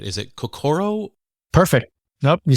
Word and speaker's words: kokoro: I hope I pronounce this right. Is it kokoro?